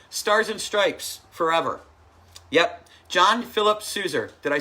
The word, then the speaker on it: John Philip Sousa: John Philip Sousa.